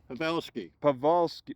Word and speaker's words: Powalski: you'll find out why pronounce the W as a v pavelski pavi vski okay in the Polish tongue it means St Paul like a a religious